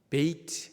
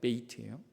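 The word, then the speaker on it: בית: 두 번째 그 글자인 베이트, 알파벳 베이트예요. 두 번째 글자 베이트로 되어 있어요. 제가 그걸 이제 보여드리도록 하겠습니다. 그림 볼게요. 이게 이제 히브리어 언어의 오른쪽이 베이트라는 거예요. 베이트. 영어로 보면 발음이 B 발음이 나요.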